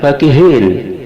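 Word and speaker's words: فَكِهِينَ: Yang ke-10, lafaz fakihin, surat Al-Mutaffifin ayat 31, fa-nya dibaca pendek.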